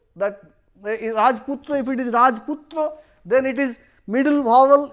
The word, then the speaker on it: Rajputra: Means in Bengali, sometime if the two words are combined, the middle vowels may be pronounced like that. We say Rajputra, that Rajputra, if it is Rajputra, then it is middle vowel is deleted.